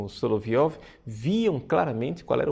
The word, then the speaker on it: Soloviev: Então, o cardeal Biffi nos fala, né, de Vladimir Soloviev. A pronúncia, na verdade, seria Soloviov.